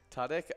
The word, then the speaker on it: Tudyk: Tudyk?